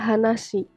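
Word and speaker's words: 話: hanashimasu berbicara hai lalu kalau tidak ada tambahan apapun di belakang kanjinya itu berdiri sendiri maka dibacanya ha nasi tapinya cerita Lalu ada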